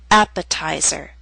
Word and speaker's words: appetizer: Appetizer and secretary are longer words. They have both primary and secondary stress. Primary stress is at the beginning of these words, but the T still falls on a stressed syllable. It's secondary stress, a little weaker but still stressed. That's why it's still a true T. And we say appetizer, secretary.